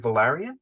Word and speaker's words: Valerian: to read um the European season the right Valerian am I pronunciation yeah that's right yes I've always wanted